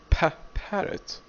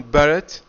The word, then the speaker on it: parrot: but if I say parrot I say what parrot so here it's what thick strong Ball but